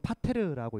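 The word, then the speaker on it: πατήρ: 있죠 파이의 대문자 형태입니다 그래서 저거는 파테르라고 읽습니다 파테르 영어 파더와 굉장히 유사하죠 우리나라에서 주기도문이 어떻게 시작해요라고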